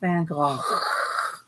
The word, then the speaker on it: Van Gogh: And I know it's pronounced Van Gogh.